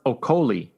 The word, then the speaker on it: Okolie: Also moving on from the Wembley Arena in London on DAZN, Lawrence Okolie.